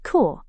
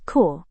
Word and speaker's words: corps: Well, P is silent in many French origin words.